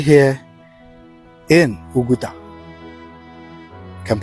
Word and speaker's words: Oguta: I am right here in Oguta. You can pronounce it as Oguta.